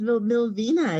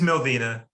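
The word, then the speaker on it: Millvina: So you You know- say, I always thought it was Milvina. It's pronounced No, Milvina. it is Milvina, yes.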